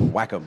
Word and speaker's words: Wacom: what I'm thinking alright you would think it was Wacom but the company themselves say it says Wacom if there was only